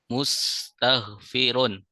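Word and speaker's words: مستغفرون: Ya, perhatikan harakatnya juga ya. Harakat ainnya kasrah mustagfirun.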